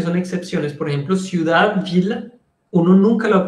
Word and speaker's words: ville: Y la otra forma de pronunciar ILL es il. Por ejemplo, la ciudad se dice la ville. Y es VILLE.